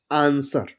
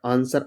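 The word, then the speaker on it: answer: फिर सेकंड है यदि किसी भी वर्ड में एस के बाद डब्ल्यू हो, कहीं भी लिखा हो एस और उसके बाद डब्ल्यू हो तो डब्ल्यू प्राय साइलेंट रह देता है। जैसे आंसर, पढ़ते नहीं, ए एन एस डब्ल्यू आर, आंसर, आंसर मतलब होता है उत्तर। एस डब्ल्यू ओ आर D, sword मतलब होता है तलवार।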